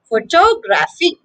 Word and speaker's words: photographic: is the stress yes the stress is on the third syllable graph photographic photographic and photographic so